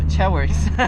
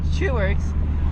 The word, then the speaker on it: Chuworks: Not a how did I used to pronounce it? Cheworks. I used to think it was It's Chuworks, which makes sense if you consider that his name is Robert Chu.